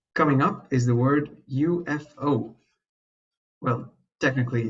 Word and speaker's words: UFO: Well, technically, it's not a word, an abbreviation, but again, let's not say it like it is actually pronounced letter by letter and it stands for unidentified flying objects.